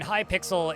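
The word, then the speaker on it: Hypixel: I gotcha I mean High pixel is a although it's spelled h y pixel is a Siri is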